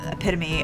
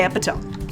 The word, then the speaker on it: epitome: epitome of taste and I didn't say epome so like progress I used to say epome cuz that's kind of how it's spelled and I'd never heard it said out loud and yeah so I